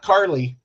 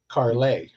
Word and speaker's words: Carlay: Her last name is Carlay. Right? Yes, not Carly. Carlay. Carlay. Which a couple people pronounce Carly.